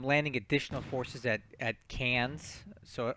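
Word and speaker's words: Cairns: additional forces at at cans so an Australian person has corrected my pronunciation this is cans because I guess Australians can't pronounce ours I'm bringing in more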